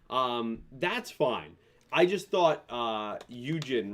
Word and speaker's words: Yujin: I just thought Yujin, right? That's Yujin's how you say it? Yeah. I thought Eugene, was going to be a little bit more interesting for me.